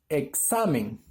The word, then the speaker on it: examen: A ver, aquí tenemos examen. Examen. ¿Ves cuál es la sílaba tónica? En este caso, donde está la sílaba del sa, siendo una palabra grave, pero termina en n.